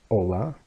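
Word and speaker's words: hola: hello right and Catalan the L is a very how can I explain this to you it's kind of similar to how Scottish people pronounce their ELLs okay the pronounce is very very heavily I guess you could say right so all laugh like that right so as you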